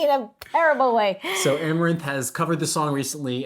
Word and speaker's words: Amaranthe: And the challenger will be Amaranthe, if I have that pronounced correctly.